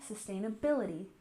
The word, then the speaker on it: sustainability: and again we have sustainability with the emphasis here at the end sustainability sustainability and you remember that